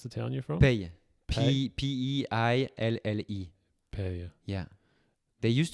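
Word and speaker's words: Peille: How do you pronounce the town you're from? Pey.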